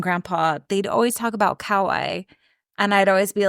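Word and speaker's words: Kauai: be like where's that cuz I thought of it ka yeah but it's cway they call it we just all say it wrong I just always was like what are you what are you talking about it's Kawai they're talking about they say Kawai anyway so they arrive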